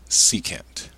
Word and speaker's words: secant: two of these if you remember this is pronounced secant and hopefully remember that secant is the reciprocal